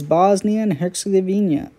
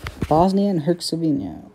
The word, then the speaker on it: Bosnia and Herzegovina: to tell you that it's bosnian hexagonia who's bosnia and herzegovina i've mispronounced it i know sorry